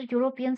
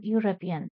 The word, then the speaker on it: European: See, this letter European starts with EU. E is a vowel, but pronunciation is U. U, right? This is like a consonant pronunciation. That's why not an. I met a European.